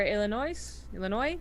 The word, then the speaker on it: Illinois: And in the top right for Illinois, don't pronounce the S.